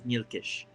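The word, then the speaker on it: Nyilkish: his name is mielisk his name is nilkish uh he is the uh the bosun boson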